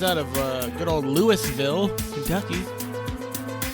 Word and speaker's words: Louisville: good old Lewisville Kentucky is that how pronounce now no no yeah yeah it is and it isn't right yeah who cares is it AR Kansas or Arkansas or is it Louisville people Louisville it is Louisville you spell it that way that's how we're going to pronounce it Louisville okay um you're going